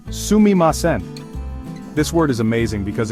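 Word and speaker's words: すみません: The first word you should learn that's pronounced sumimasen.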